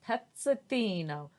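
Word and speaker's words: Pezzettino: says that that means little peace it is pronounced petzothino all the other okay his name was petzatino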